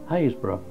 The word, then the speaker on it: Happisburgh: as you can see hayesboro not pronounced as it's spelled there are many towns